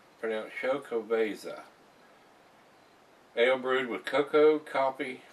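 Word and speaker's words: Xocoveza: This is a Exo Caviza Mocha Stout, pronounced Chocoveza.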